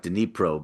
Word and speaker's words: Dnipro: should have pointed out Dnipro, which looks like Dnipro but pronounced Dnipro, is is very east,